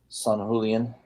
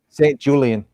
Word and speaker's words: Saint Julian: And then here San Julian, or how do you say his name again? Saint Julian. Yeah, like mint julep.